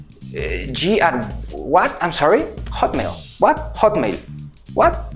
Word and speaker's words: Hotmail: See how we pronounce the “O” in Spanish We pronounce the vowels in the mouth: “Oh”... In English we need to pull it back down here again... ... HO... HO... To say: HOT HOTMAIL Good.